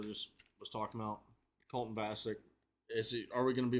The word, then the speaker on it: Vasek: But a guy like Colton Vasek, or Vosick, Colton Vosick, I believe that's a correct pronunciation.